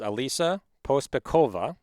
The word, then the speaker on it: Alisa Pospekhova: So, our guest, without further ado, is Alisa Pospekhova. Had to practice a few times to get to pronounce her last name correctly.